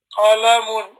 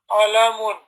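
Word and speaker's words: قلم: Whereas this one, with a qaf, qalamun, qalamun. This goes back to the throat, to the top of the throat, and that's where the pronunciation is coming from.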